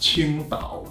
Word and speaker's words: Tsingtao: It's called Tsingtao, T-S-I-N-G-T-A-O. Actually in Chinese it's pronounced Qingdao, Q-I-N-G-D-A-O in the pinyin system.